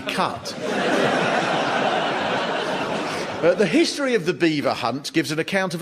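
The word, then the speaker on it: Belvoir: In what language can B-E-L-V-O-I-R spell beaver?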